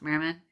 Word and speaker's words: Merriman: the street of merryman a merriman which is about merry men but it's pronounced merman merriman i don't know